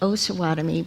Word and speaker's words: Osawatomie: to know this, that it has to be pronounced Osawatomie. Osawatomie, sorry. Because it was the Osage and the Potawatomi Indian tribes. Right. So when I would go there and say Osawatomie, they would correct me.